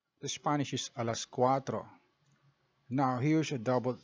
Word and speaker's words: cuatro: squat the rule is you pronounce the first a then pronounce the second a without closing your throat as in so qua becomes qua and cuatro becomes cuatro then you as english